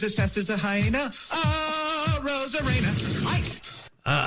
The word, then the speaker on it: Arozarena: Arozarena. Aye. Hyena is a bit of a stretch to to rhyme with Arozarena, but I appreciate the effort by Jeff Passan.